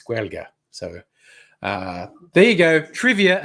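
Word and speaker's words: Gaeilge: And I said, and how do you say it? Because I never know how to say Irish words. And it's Guelga.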